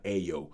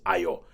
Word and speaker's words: Ayo: And everybody pronounces her name wrong. They keep calling her Ayo. It's Ayo. But yeah.